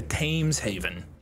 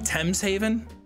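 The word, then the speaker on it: Thames Haven: out with these guys or head over to tames Haven am I pronouncing it wrong T's Haven okay fine okay it's T's Haven is there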